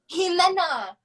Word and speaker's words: Jimena: say though okay so my name is pronounced Ximena Jimena oh my God don't